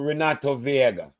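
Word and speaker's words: Renato Veiga: How much money in pounds did Chelsea play for Renato Viega?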